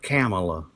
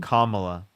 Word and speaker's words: Kamala: President Biden called her Camela. Was he wrong? Kamala. He said Camela. Was he wrong? Yes. Kamala.